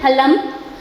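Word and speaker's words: फलम्: एक वचन फलम, द्विवचन फले, एंड बहुवचन फलानी, फलम, फले, फलानी, इट इज़ फ नॉट फ, राइट। फ, प, फ बताया था मैंने आपको, तो फ बोलेंगे आप इसको, फ नहीं बोलेंगे, ठीक है।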